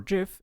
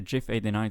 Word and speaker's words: GIF: Windows bitmaps, and gif. And to everyone having opinions about how I said that last one, be assured that I do say it with a hard G in other languages.